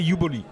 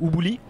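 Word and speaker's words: Ubooly: machin le uboli UB comment on prononce en français alors en anglais c'est uboli yuboli bli donc c'est i en anglais en français euh on va dire ubouli ubouli euh très honnêtement je pense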